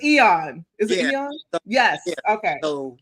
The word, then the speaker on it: Aeon: Um and and thank you for correcting me on that because I kept saying AON because in my mind it was like AON Flux, but yeah. Yeah. But it's Eon.